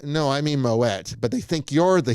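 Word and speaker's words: Moët: And if you say Moette, which is the actually correct pronunciation because it's actually a Dutch name, not a French name.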